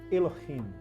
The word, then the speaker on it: Elohim: É assim que se pronuncia, Elohim.